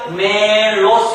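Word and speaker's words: κάμηλος: 이거는 카멜로스 이렇게 읽어요. 요거는 뭐냐면 카밀로스 이렇게 읽어요. 카밀로스. 좀 닦아야 돼요. 카밀로스. 뭔만 하나 틀려요 지금. 요것만 하나 틀리죠. 요거는 에 발음 나고 요거는 그냥 이 발음 나요.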